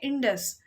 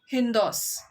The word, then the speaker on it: Indus: अब जो इरानियंस होते हैं ना, उनका बोलने का तरीका अलग होता था. तो रिवर का नाम तो क्या है, इंडस, लेकिन वो उसको प्रनाउंस कैसे करते थे, हिंदोस.